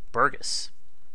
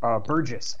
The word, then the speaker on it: Burgess: So, please welcome to our cast today, Burgess. Burgess, actually. Burgess, I'm sorry. No, that's okay. It's a soft G for a soft man, and a very common mistake.